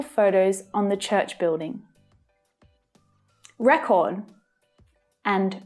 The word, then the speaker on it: record: community projected historical photos on the church building record and record record and record do you keep a record